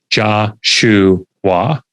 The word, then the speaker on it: Joshua: I wouldn't write Joshua because that's not phonetic. That's how it's spelled. Instead, I would write, Joshua. Well, the word shoe in the middle, SHOE, has nothing to do with footwear, right?